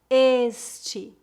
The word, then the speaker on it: este: Primeira dica: os pronomes femininos são pronunciados com E aberto e os pronomes masculinos com E fechado. Por exemplo, ele, pronúncia fechada. Ela, pronúncia aberta. Este, esta, esse, essa, aquele, aquela.